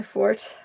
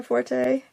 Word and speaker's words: forte: not my not my fort not my forte that word can be pronounced either way I learned I I